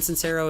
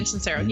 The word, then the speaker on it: Sincero: And you mentioned a good book not too long ago, You Are a Badass by Jen Sincero. Am I saying it right? Yeah, Jen Sincero.